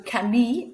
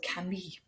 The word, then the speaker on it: Camille: So Camille, it's got an E, and that E makes us pronounce the double L sound, which is actually a Y sound. So Camille.